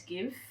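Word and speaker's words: GXVE: number 36 and look i'm pretty sure it's pronounced as give this is of course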